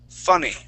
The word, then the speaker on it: funny: go all right uh so short uh short you okay you would use more of an a sound saying funny fa funny okay so let's use a uh F funny funny funny okay let's